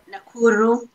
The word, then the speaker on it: Nakuru: So how do you pronounce the Nakuru? Nakuru, Kenya.